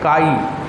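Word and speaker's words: chi: इसका नाम क्या है KHI, जिसमें H साइलेंट है, तो KHI में क्या हो गया, काई, इसे बोलते हैं काई।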